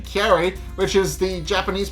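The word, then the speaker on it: カレイ: saying curry when in actuality he was saying carrie which is the japanese pronunciation for flounder um but in case after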